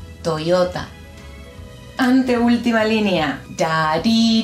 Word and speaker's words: Toyota: Lo podemos pensar como una I y latina, no sé cómo lo digas, una I, está ahí, pero bien juntito. Ya, yu, yo. Por ejemplo, la marca de autos, esta, se lee Toyota, yo. Los argentinos decimos Toyota. No, Toyota.